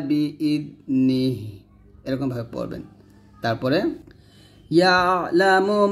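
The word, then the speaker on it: يَعْلَمُ: দিয়ে টান দিবেন ইয়ালামু ইয়ালা ইয়ালা এরকম ভাবে পড়বেন না ইয়ালামু এরকম ইয়ালামু মা বাইনা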